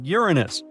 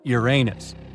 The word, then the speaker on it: Uranus: Uranus all this time actually astronomers say we should be pronouncing it like Uranus not Uranus I can't say a